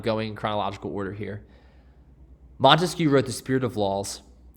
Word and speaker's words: Montesquieu: is baron de montesquieu montesquieu is how you say his last name i usually will just